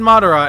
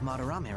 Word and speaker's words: Madarame: Fucking went, like I said Madara, and I was like, that sounds right, and then I was like, wait, no, that's the villain from Naruto. That's not right. There's an extra syllable in there.